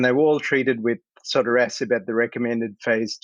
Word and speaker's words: sotorasib: So sotorasib, you pronounced it correctly.